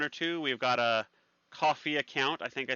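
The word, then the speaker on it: Ko-fi: And if you want to throw us a bone or two, we've got a coffee account. I think I say it right. Coffee with a K. Yeah, coffee.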